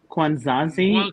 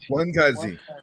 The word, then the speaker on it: Ngwankazi: so the Ngwankazi is pronounced Kwanzazi, or how's it pronounced? Ngwankazi. So you just don't pronounce the N. It is the nasal is your N. Ngwankazi. The nasal N is there for the nasal.